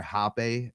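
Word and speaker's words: Rapé: So it's called it's spelled RAPE. Oh, yeah. Right. But or Hapé, HAPE, with the little thing over the top.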